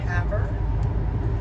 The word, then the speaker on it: Havre: We crossed just north of, I believe it's pronounced Havre, Montana.